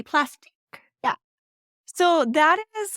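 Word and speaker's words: Plastiq: use a service like plastic is that how they pronounce it either way it's p-l-a-s-t-i-q I believe so sounds French so it should be plastic yeah so that is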